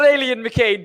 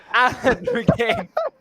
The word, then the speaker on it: Alan McCain: Not Alien McCain, but Alan McCain in sixth.